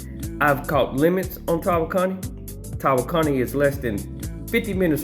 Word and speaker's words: Tawakoni: Now that's how you pronounce the name, Tawakoni. But even though it's Tawakoni, a lot of people say Tawakoni. I make fun of people saying Tawakoni because it's Tawakoni.